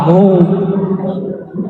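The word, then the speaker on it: هو: Hu, bacanya hu, jangan huwa, kecuali disambung.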